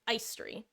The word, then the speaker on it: Aestri: It's pronounced Aestri.